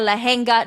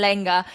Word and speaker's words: lehenga: So I was like, "Oh, I'm going to be at the Sanjit and then I need a lehenga." No, it's Sanangeit and Lena.